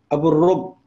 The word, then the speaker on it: Abualrub: I'm going to let you pronounce your last name so that I don't mess it up. Abualrub.